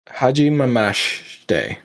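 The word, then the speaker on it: はじめまして: Yeah, the I there is comes up a little bit silent, so you say it like you can say it like this. Ha ji me mash de, and when you put that all together, Haji Mamashite. yeah, that's pretty good.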